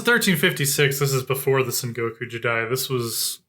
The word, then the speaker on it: Sengoku Jidai: Of course, yeah, it's a Sengoku Jengai. I mispronounced it. Sengoku Jidai. Jidai. That's it.